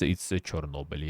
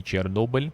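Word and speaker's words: Chornobyl: In Ukrainian, it's Chernobyl, yeah. It used to be Chernobyl, but that's kind of like Russian pronunciation, so they changed it to Chernobyl.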